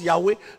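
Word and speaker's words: Yahweh: nom est youé et quand on dit on prononce Yahwé ce qui est écrit c'est YH WH mais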